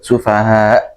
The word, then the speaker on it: السفهاء: Jadi ketika huruf hamzah maka gitu aja. Huruf sufaha gitu. Jadi ke huruf a saja, huruf a bukan huruf ain.